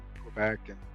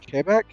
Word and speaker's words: Quebec: There's all sorts of Southern accents and dialects, just like, up in Canada, Quebec, or as I'm told, it's actually pronounced Quebec.